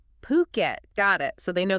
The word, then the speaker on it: Phuket: fukat since 2004 and by the way that's pronounced puket not fukat puket got it so they know their stuff then